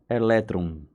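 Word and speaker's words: ἤλεκτρον: que no grego antigo a palavra âmbar se pronuncia elétron com o no final eletron então dizer os efeitos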